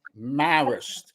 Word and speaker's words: Marist: up high schools with the same name it's pronounced Marist I bet you pronounce it Mario instead of